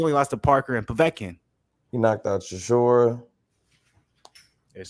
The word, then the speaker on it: Povetkin: losses parker anthony joshua vatican or as a lot of people used to correct me povetkin i remember that some